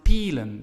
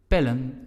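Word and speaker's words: pillen: Now, if we would only add en, we would pronounce it pielen because vowel E, L consonant, E vowel again, vowel consonant vowel rule.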